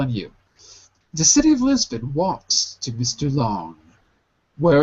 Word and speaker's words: Lisbon: The city of Lisbon walks to Mr. Long. The city of Lisbon was to Mr. Long. Very good. Now 2 words. Lisbon. Repeat. Lisbon. Lisbon. It looks like Bon, but it's pronounced bin.